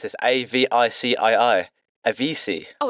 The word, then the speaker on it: Avicii: To be fair, how do you pronounce this? Avicii. Avicii. Oh, it's Avicii.